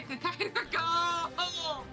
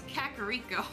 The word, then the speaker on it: Kakariko: All right, let's go back to Kakairako. Back to Cramone. Yeah, could you hear Wow, the panic that in unlocks Dragonet's some voice? memories. I said it wrong anyway. It's Kakariko, Alrighty.